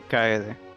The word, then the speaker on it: Kaede: It's Kaede.